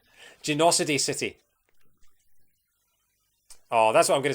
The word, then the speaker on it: Genocide City: Genocide City, pronounced Genocid City, just like Hydrocity. Genocity City.